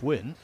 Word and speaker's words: Nguyễn: regard well of course the one name that can really confuse is wi spelled ngu Yen I was telling the story yesterday in commentary with Carl I'll tell it again the reason I know it's win and it is he's